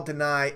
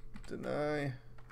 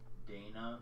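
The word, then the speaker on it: Danai: Dana Guerrera. What? Dana Guerrera. It's not Dana. Dana Guerrera. Guerrera. Deny Guerrera. I think that's how she says.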